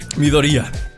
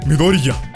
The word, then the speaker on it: Midoriya: Midoriya. Me dicen que no pronuncio la ya, pero sí la pronuncio, nomás que como los japoneses, así como que no se nota. Midoriya.